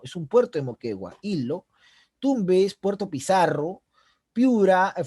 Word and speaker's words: Ilo: Moquegua, que se pronuncia Hilo, recuerden, Hilo, es un puerto de Moquegua, Hilo.